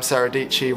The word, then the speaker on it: Dietschy: I don't know if you've seen Sarah Dietschy on YouTube, but she has this thing where she's like, "Hi, I'm Sarah Dietschy, rhymes with peachy."